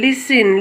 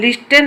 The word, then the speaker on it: listen: LISTEN लिसन लिस्टेन हबनी एटा T silent अछि।